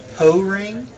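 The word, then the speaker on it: Poring: So, apparently the chat has informed us that Po-Ring is how it's pronounced, is not a Pokemon. What were you going to say there, Zach? I think it's pouring.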